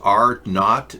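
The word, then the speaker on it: R0: the question for starters the row pronounced R not is actually what okay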